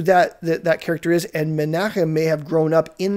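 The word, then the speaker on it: Menahem: the church in antioch menachem it's it's spelled out manam in the in your english bibles but that's the greek form of a common hebrew name menachem he's believed to be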